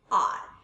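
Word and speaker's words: hour: एन आर, एन क्यों है यहाँ पे, हमने एच साइलेंट लिया है, एच को हमने नहीं बोला है, एच को हमने प्रोनाउंसिएट नहीं किया है, इसको हमने क्या प्रोनाउंस किया है, आर।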